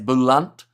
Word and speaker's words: Boland: Pronounced Boland as Boulant, says Craig there.